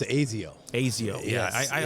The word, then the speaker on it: Asaio: And then also an integration with the Asaio platform as well. It pronounced Azio.